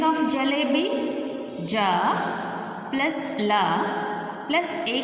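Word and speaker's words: जलेबी: What is the spelling of jalebi? Ja plus la plus A की मात्रा symbol plus ba plus E की मात्रा symbol. This is a long pronunciation E.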